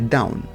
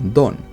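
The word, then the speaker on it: Dawn: famosa t proviene de Down también visto escrito a veces como Don pues se pronuncian igual el cual sería el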